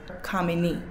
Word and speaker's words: Kamini: For example, my name is Kamini and my name has 3 sounds, Kamini, with the first sound being the stronger one.